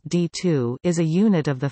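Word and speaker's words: DITU: data intercept technology unit D ITU pronounced d2 is a unit of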